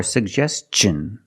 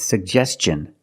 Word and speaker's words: suggestion: Pronounce both. Suggestion. And T-I-O-N, the T makes the ch sound. So together, suggestion. Put the stress on the second syllable.